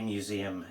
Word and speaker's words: museum: Again, think about how we say museum in English. And we do say it with a zed. We put an s in there, but we actually pronounce it with a zed.